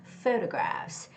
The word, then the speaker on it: photograph: And the word photograph is the first syllable stress, so it's got to be photographs, photographs, photographs.